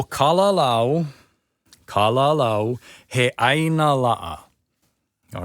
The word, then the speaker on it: Kalalau: And when you say kalalau, make sure it's not kalalau. Lao, right? Lao. If you have the A-O sound, it's kalalau. Kalalau. But what you want is kalalau with the U sound at the end. Kalalau.